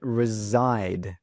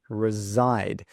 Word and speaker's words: reside: So instead of saying live, you could say the word or use the word reside. Now, listen to that pronunciation, reside, reside. That S sound actually sounds like a Z sound.